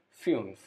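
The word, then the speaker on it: fünf: four number five fumes you is without you without is pronounced as u so fumes number five next number six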